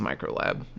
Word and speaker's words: ulab: the same way and it's actually pronounced microlab even though it's spelled ulab anyway this is another